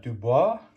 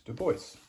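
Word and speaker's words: Du Bois: Dubois, and I'll just point out, for those of you who studied French, you might want to pronounce that Dubois, and that's just not how he pronounced his last name, so it's Dubois.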